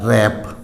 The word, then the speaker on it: wrap: Examples देख लीजिए इसका, WRAP, तो यहाँ R से पहले W है, W साइलेंट हो जाएगा। रैप, रैप माने लपेटना।